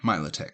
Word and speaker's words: Milotic: Yeah, Milotic.